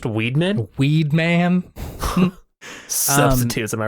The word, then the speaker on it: Weidman: uh w d m an which could be widman or Weedman depending on which how which depending on your pronunciation and either one felt right so I